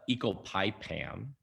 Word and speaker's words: ecopipam: Doctor, you recently joined Peter Reese's on Some Stutter Talk to discuss ecopinment. I apologize for not pronouncing this right.